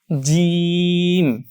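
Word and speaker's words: جيم: একই সাউন্ডের আবারো বলছি এটা হবে জিম জিম জিম জয়ে বর্গীয় জ এর মত করে জিম কিন্তু এটাকে যদি আপনি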